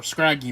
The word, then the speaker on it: Scraggy: Uh, Piplup, Scurgey, or Scraggy, more accurately. I call him Scurge. I pronounce it Scurgey because I kind of think it's fun like that.